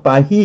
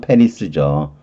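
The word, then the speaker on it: Paris: 파히 이러잖아요. 그래서 파리가 된 거죠. 불어는 자음이 맨 끝에 오면 발음을 안 하잖아요. 그래서 이것만 발음해서 파히 이렇게 되겠는데, 아무튼 우리가 파리라 그러는 거잖아요. 영어로는 물론 페리스죠.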